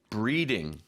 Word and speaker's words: breeding: out is pronunciation so in Korea a lot of people get the r sound and L sounds confused sure never confuse breeding with bleeding that's they're very different very very different yes just give us